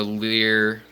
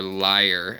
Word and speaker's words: lyre: spots but with the leer or lyre as it is appropriately pronounced tail and then eared